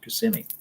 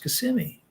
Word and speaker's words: Kissimmee: the thai order at what florida dhammaram and kissimmee and so when i got up to speak